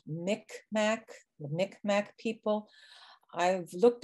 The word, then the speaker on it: Mi'kmaq: with what is called Mi'kmaq, the Mi'kmaq people. I've looked at the pronunciations that are presented now by the tribes, and they say it's more like Mi'kmaq.